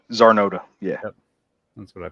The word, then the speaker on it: Czarnota: Zarnota. Zarnota.